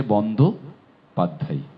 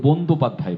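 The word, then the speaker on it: বন্দ্যোপাধ্যায়: বন্দোপাধ্যায় রুমা মাদক লিখেছে বন্ধ পাধ্যায় এটি কোন কেউ কেউ বন্ধপাধ্যায় বলে বয়কার হবে এটি বন্ধ পাধ্যায় আপনার কোন ভিডিও আছে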